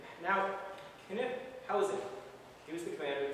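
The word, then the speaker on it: Knyphausen: And the 2nd Division was commanded by Lieutenant General Wilhelm von Kniphausen. That's how to pronounce his name. Now, Kniphausen.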